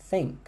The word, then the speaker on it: think: Think, think, think. Olha o TH. Aqui não está tremendo. Estou soprando. Mas você só escuta o sopro.